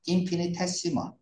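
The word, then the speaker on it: infinitesimal: 인피니테스티멀, 인피니트 무한한 스몰, 테스티멀이에요, 테시멀, 인피니테스티멀, 인피니테스멀 이렇게도 발음을 하고 인피니테시멀, 됐죠?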